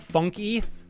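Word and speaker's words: Funke: what is their name it's spelled funky like f-u-n-k-e but I think it's pronounced Funk uh yeah he does like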